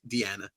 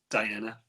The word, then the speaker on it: Diana: Oh, is it pronounced Diana or is it Deanna? It's Diana.